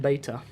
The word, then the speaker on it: Beta: Is it beta or it's beta? Whoever calls it beta is... just got no words for you. It is pronounced beta.